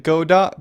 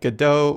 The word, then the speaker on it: Godot: the go dot engine I'm going to pronounce it God dot because their logo is